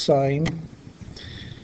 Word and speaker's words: sin: called sine it's abbreviated as I am it's pronounced sine and it is a ratio the sine of